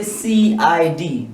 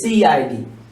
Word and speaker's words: CID: For example, just say CID. It's not SID, it's CID. All the letters are gonna be pronounced separately. It is CID.